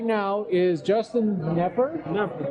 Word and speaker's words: Knepper: And with me right now is Justin Knepper. Hey, I pronounced it right. That's silent K.